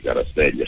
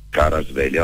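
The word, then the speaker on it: Kvaratskhelia: ma innamoratissimo calcisticamente parlando di Caraspeglia, si dice così, si pronuncia così, perché questo ci fidiamo.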